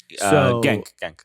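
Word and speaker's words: Genk: played with FY at Hank I believe gank gank I think it's pronounced Hank really yeah G's are H's um so at least that's the way it's been explained to me so again if I'm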